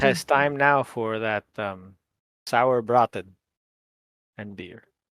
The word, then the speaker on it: Sauerbraten: Speaking to those who have come before us, I think it has time now for that sour braten and beer. Sauerbraten.